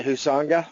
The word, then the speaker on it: Huizenga: And I thought a good example of that was this guy, Wayne Huizenga. Is that how you say it, Dad? Yeah, Huizenga.